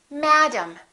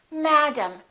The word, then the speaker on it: madam: in common is that the first syllable is stressed and the second syllable is reduced in some languages each